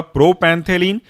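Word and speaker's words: propantheline: वह है पहला आपका प्रोपैंथेलिन, ऐसे पढ़ेंगे इसको हम तोड़ करके, प्रो, PRO, प्रो, पैन, PAN, थेलिन, THELINE, जोड़ के बनेगा प्रोपैंथेलिन, प्रोपैंथेलिन।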